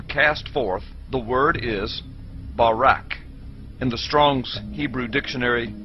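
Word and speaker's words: ברק: brightness or a glittering the hebrew word is Barack so lightning or a flash of light in Hebrew is pronounced Barack or Barack now consider this amazing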